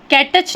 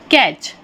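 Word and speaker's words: catch: हैं लिसन सुनना कैच टीसीएच है कटच नहीं बोलते हम उसे क्या प्रोनाउंस करते हैं कैच पकड़ना इसी तरह से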